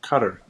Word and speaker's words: Qatar: nobody said they're from I think it's pronounced uh cutter I believe you're right that's right yep I